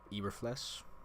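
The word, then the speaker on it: Eberflus: tackle more right now and I know Matty Eber flesh is how you say it the the Bears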